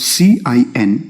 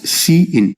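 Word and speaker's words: cin: see what they are number one we have c i n which is pronounced as c in so we call this as c in and this is used for standard input so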